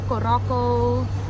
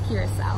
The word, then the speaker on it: Curaçao: They know it as Curaçao, Curaçao, Coroco, and then I'm like, oh no, it's Curaçao. Yeah, Curaçao. Just so you know, it's Curaçao.